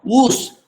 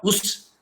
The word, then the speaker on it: Oos: Therefore, the rule in Konkani, when there is one vowel, the pronunciation is long. Oos and not us.